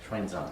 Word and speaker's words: Xuanzang: Xuanzang.